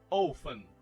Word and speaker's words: often: Often. Você não vai falar o som desse T. Então se você falar assim, ó. Often. Não, tá errado. O som desse T, ele é mudo.